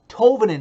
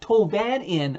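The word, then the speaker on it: Tolvanen: Ellie Tovanen, yes, Cassie Campbell, that's Ellie Tovanen, not Tovanin, or however you said it wrong.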